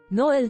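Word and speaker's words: Noël: w ciekawym czasie Noel to po francusku Boże Narodzenie Kropki nad e oznaczają że wymawia się dwie sylaby Jest to dość częste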